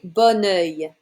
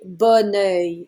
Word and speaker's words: bon œil: Avoir bon pied, bon œil, and that's because the second noun starts with a vowel, so you don't pronounce the word before it the same way.